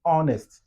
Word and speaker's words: honest: Vous voyez que l'état H là, dans ce mot honest, l'état H est silencieux, on ne prononce pas. Comme on ne prononce pas l'état H dans ce mot en particulier, c'est pourquoi ça devient comme on dit honest. Sur le son là, c'est O. Ça devient le son voyelle.